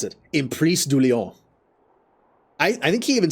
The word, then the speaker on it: Emprise du Lion: Okay, so that's how you pronounce it. Emprise du Lion.